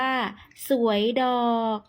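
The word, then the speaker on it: สวยดอก: กรวย ดอก ไม้ หรือ ชาว ล้าน นา มัก จะ ออก เสียง ว่า สวย ดอก นะ คะ สวย ดอก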